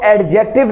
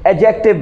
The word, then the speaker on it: adjective: clear कर दूं कि आप इसको एडजेक्टिव नहीं बोलें बीज है इसमें यह साइलेंट है आप इसको जो भी बोलेंगे एगजेक्टिव बोलेंगे जी स्टूडेंट्स एग्जीक्यूटिव का